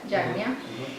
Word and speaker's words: Yagna: Y el quinto es el Rishi Yagna, se pronuncia Yagna, y es estar agradecido